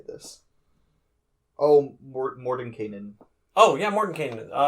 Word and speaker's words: Mordenkainen: Oh, yeah, Mordenkainen.